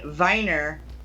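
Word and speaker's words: Wiener: he was born in weiner Australia I mean I'm sorry Austria I'm sorry he's born in Viner Luke's dad Austria yeah because that news are pronounced with a v yeah that dialect yeah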